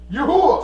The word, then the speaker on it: YaHUaH: Sing to YaHUaH. Sing praises to his name. Extol our Father who rides the clouds by his name. YaHUaH.